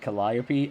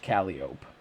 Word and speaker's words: calliope: Okay, he pronounces it Calliope. I have heard that apparently in some parts of the United States, the instrument is sometimes pronounced Calliope.